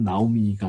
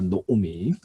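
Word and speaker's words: נָעֳמִי: 사실은 나오미라고 하는 발음도 사실은 요 형태를 취해요. 노오미라고 발음하는 게 사실은 맞습니다. 나오미가 아니라 노오미.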